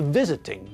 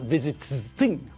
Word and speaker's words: visiting: syllables but again the stress is on the first part of the word not the last part so when we add ing to visit it changes to visiting not visiting remember has got three